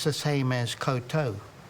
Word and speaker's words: koutou: But as I was just explaining, um, it's the same as koutou, k o u t o u and and